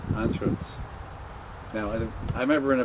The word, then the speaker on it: Anschuetz: But the American way is UE. But how do you pronounce that? Anschuetz. Anschuetz.